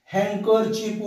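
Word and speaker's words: handkerchief: शब्द दिले जातात आपल्याला हँकर चीप उच्चार आहे परंतु बघा किती सोपा आहे शब्द हड एच एन डी के आर कर आणि चिप सी एच आय एफ हँकर चीप म्हणायचं परंतु स्पेलिंग एच एनडी हे लक्षात घ्या हँकर चिप म्हणजे काय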